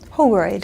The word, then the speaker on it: Holroyd: So Linda Holroyd, thank you, and I'm Holroyd? Holroyd. It rhymes with Polaroid.